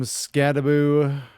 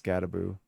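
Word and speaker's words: Skattebo: For running backs, we have Cam Scadaboo, which I still don't understand how that's pronounced Scadaboo. It definitely reads Scadabo, but every time I hear it pronounced, it's Scadaboo.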